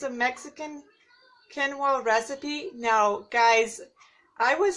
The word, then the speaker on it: quinoa: and she said that in Brazil they do say quinoa. So the quinoa is like the American version of how you say that. So I don't feel so bad at pronouncing it in a different way.